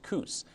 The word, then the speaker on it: Kus: And said, just so you know, it's not pronounced Kuzi, it's Kus.